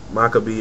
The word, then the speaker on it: Makabe: Makabe and Yano.